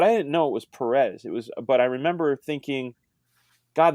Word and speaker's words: Perez: I'll just be the devil's advocate side of like the guy that I'm a huge George Perez fan, like Perez fan, because there's a accent on the E.